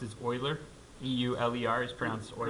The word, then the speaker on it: Euler: guys the way that the person's name is pronounced is euler EU le are sprouts or their early ok